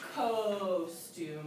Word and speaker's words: costume: First you said costume with an O, long O sound. Why did it say ah? Because there's no E. Right, there's no silent E. There's nothing making that O say its name.